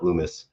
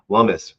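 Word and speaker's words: Lummis: the political Dynamics sure Lumis rhy lumus so then I guess it's lumus not Lumis lumus rhymes with hummus I guess this Senator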